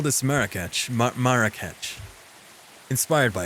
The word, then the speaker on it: Marrakesh: Marrakesh. Pronunciation.